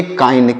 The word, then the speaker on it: kind: क्या पढ़ेंगे, इसे पढ़ेंगे काइंड। क्या पढ़ेंगे, काइंड, KIND, काइंड। यहाँ पर देखिएगा आई का उच्चारण क्या हो रहा है, आई हो रहा है।